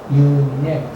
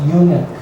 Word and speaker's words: unique: and I am unique you Nick so the stress is on the second syllable you Nick not unit very important because you